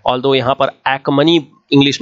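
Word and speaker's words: Achaemenid: तो this is द अखमनी dynasty, ठीक है, हिंदी में इसको हखमनी भी बोलते हैं, दिस इज हखमनी, ठीक है, ऑल्दो यहां पर एखमनी इंग्लिश में प्रोनाउंस करेंगे।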